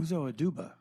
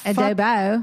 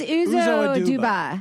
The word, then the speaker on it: Uzo Aduba: Uzo Aduba. Not Adobo. We got to cut this out. No. That's terrible. It's Uzo Aduba. Yeah. I said Uzo Adubo because Uzo Adubo, but it's Uzo Aduba.